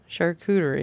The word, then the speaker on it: charcuterie: anyone some shirt jewetery okay wait it is pronounced sharp rotary shark yeah just remember cooter all right charcuterie it's just some big words it is a